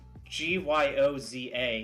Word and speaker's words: gyoza: okonomiyaki no that that no no it's like g-y-o-z-a oh gyoza yes gyoza dude but yeah in